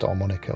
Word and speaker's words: armonica: classes instrument but it's automatic and it is pronounced armonica or spell armonica so it's like rubbing the